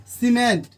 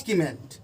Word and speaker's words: cement: CEMENT सीमेंट, इसको नॉट कीमेंट।